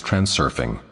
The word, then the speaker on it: transurfing: Generally speaking, though, if you practice transurfing, you are balancing on a wave of fortune. The word is pronounced transurfing in the same way as it is spelled.